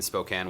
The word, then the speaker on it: Spokane: little bit but also did you say Spokane yeah is that how it's pronounced wait yeah what did you think it was pronounced as Spokan um I